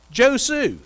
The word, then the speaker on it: Josue: josue he said well how do you spell that he said j-o-s-u-e yeah joe sue that's what i said so just like it